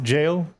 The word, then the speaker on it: Gal: Fun fact, Gal is pronounced jail.